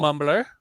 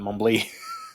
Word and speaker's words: Mumbly: Mumbler, let's go ahead and have Dr. Bones roll for loot. I said it right that time. Kind of. You said mumbler, not mumbly.